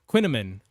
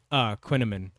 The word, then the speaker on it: Quinnaman: It's pronounced like cinnamon and Quinn. Quinnaman. Quinnaman. I was reading that second I and it was tripping me up.